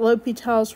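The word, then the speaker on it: L'Hôpital: I know y'all don't know what L'Hopital's rule is yet. However, this is big for L'Hopital's rule. It's spelled L hospital, kinda. It's called L'Hopital.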